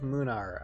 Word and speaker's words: Munar: said he says okay you actually are saying my name correctly munar I I guess I guess um kind of like lunar moon our lunar I